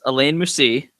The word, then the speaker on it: Alain Moussi: Yes, Alain Moussi.